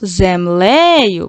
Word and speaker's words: землею: А слово землею, подивіться, у нас дві е, але на один падає наголос землею. Бачите, наголос стоїть. А на перший е в першому складі не падає наголос, тому тут підкреслимо тільки одну е.